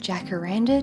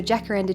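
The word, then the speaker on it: jacaranda: front of my favorite Jack Aranda tree so Jack Randa trees I think they're pronounced hakara trees and other places I learned that from En Kento these beautiful purple trees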